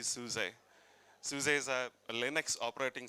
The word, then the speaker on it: SUSE: Dominic, um, I'm working for a company called Suse, mispronounced many times I heard, but that is supposed to be Suse.